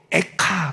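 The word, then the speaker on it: איכה: 한자, 한문으로 쓴 한자어 책 제목은 슬픈 노래인데 히브리어도 발음이 똑같아요. 워드 플레이가 돼요. 히브리어로 에카 그래요.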